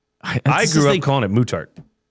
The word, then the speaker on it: Muttart: Mutart mutart. Not mutard. Mutart mutart. The mutart conservatory. But and now I I've heard it pronounced so many different ways and people are correcting each other now. I can't remember what the right way is. Yeah. It's supposed to be muttart.